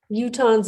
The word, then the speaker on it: Utahns: and Policy and Practice, which is how you to Hans have access the course if anyone wants to correct my pronunciation I welcome you to do that. Utahns is great.